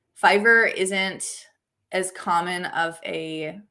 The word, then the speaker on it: Fiverr: the other thing is everyone calls it fiver if you like aren't knowing how to say it and they're like you work on a site called fever and it just sounds so stupid it's like no that's so gross sounding um but yeah i